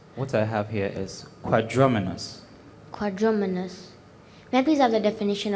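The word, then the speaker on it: quadrumanous: quadrumenas it's an adjective is there any alternate pronunciation for quadruminus what i have here is quadraminus quadraminus methods are the definition of quadraminus it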